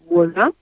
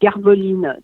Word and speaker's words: Garwolin: Pardonnez-moi, Philippe, je comprends que vous disiez Wallin, W se dit comme ça, mais c'est Garvoline. Déjà que moi-même, je ne le prononce pas comme il faudrait, parce que les Polonais disent sûrement autrement, mais en tout cas, pour moi, c'est Garvoline.